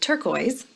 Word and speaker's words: turquoise: here's a big word turquoise turquoise count up those vowels there are five vowel letters but listen turquoise turquoise it's only two syllables because there's only two